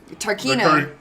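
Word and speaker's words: Tarkheena: Name pronounced Aravis the Tarkia. Aravis. Tarkina.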